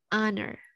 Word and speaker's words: honor: Hanya nggak dibaca, you just say honor.